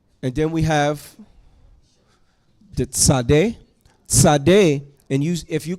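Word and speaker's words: צדי: a z sound and it's not a t sound it's a t z sound Sade Sade like sedek righteous said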